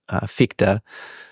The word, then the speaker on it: Fichte: So Schelling was still a teenager reading Kant and studying and collaborating with one of the first sort of Kantian philosophers named Fichte.